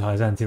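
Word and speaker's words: Hyzante: Oh, it's Hyzant. I'm not supposed to pronounce the E.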